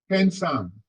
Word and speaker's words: handsome: On the first syllable.